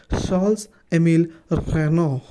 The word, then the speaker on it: Charles-Émile Reynaud: film was made in the late 1880s when Charles-Émile Reynaud, nailed that pronunciation by the way, developed his projection praxinoscope